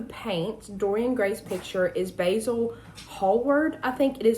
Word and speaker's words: Basil: Dorian Gray's picture is Basil Hallward. I think it is an H word. I can't remember. His last name starts with an H. Uh, but Basil and it is pronounced basil like the herb or herb, however you want to say it.